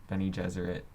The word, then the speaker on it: Bene Gesserit: where Paul is meeting with one of the Bene Gesserit. That's how you pronounce it, right?